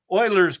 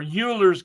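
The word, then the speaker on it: Euler: so that people know that this is not Oilers's constant or Uler's constant or Ber's constant.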